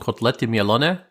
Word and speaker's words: Kotlety Mielone: We call them Kotlety Mielone, but sometimes we just call them Kotlety.